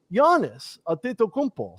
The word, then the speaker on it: Giannis Antetokounmpo: get inside of the paint on guys like Giannis Antetokounmpo.